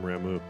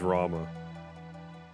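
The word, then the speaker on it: Ramuh: to get strength from ramu that's fine i guess he's rama i've called him ramu like my whole life don't have a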